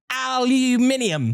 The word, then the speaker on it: aluminium: And I love the way y'all pronounce aluminum. Aluminium.